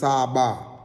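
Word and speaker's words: צבא: we said it was Sabah, and it's the pronunciation is Sabah.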